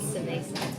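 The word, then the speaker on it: Savaysa: It's Savasa, but it sounds like Cerveza to me.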